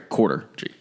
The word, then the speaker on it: Corridor G: corporate shops and everything is Corridor G. Pronounced around here, Quarter G.